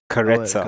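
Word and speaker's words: Karezza: oh, yeah, Karetsa. go for it. Karetsa, pronounced karetsa, is a gentle, intimacy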